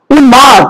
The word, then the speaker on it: উন্মাদ: যদি ল, গ, ম এগুলো ধ্বনি থাকে তার সাথে যদি মফলা যুক্ত হয়, তার মফলা যুক্ত তার উচ্চারণটা বজায় থাকবে।